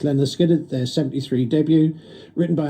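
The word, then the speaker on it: Lynyrd Skynyrd: That's Leonard Skinner, taken from Pronounced Leonard Skinner, their 73 debut, written by Alan Collins and Ronnie Van Zant.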